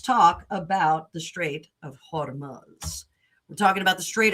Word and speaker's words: Hormuz: Let's talk about the Strait of Hormuz.